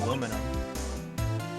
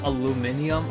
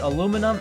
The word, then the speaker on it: aluminum: would pronounce it as aluminium or whatever and I'm just like no it's not pronounced that way there's no I in between the N yeah the n and the U so it can't be